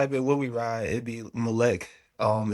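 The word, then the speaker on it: Mlech: So, you type in When We Ride, it' be Mlec. Um, it's spelled M L E C H.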